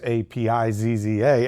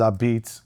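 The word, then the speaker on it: Apizza: So learning here in Boca and Delray and Palm Beach, when I put Ah-Beetz, A-P-I-Z-Z-A, everybody would say a pizza. Right. Which is kind of clever too, because Ah-Beetz, it's a pizza.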